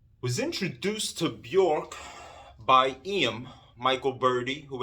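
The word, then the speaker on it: Björk: me on to bjork i say bjork i don't know why it's maybe it's a new york thing i but the name is uh correct way i believe to pronounce pronounce it is bjork which is strange doesn't roll off the tongue that well but bjork was my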